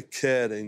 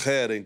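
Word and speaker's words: חרם: A palavra, algumas traduções traduzem como interdito, essa destruição total, e em hebraico é keren, né? Ou heren, como a gente precisa pronunciar corretamente.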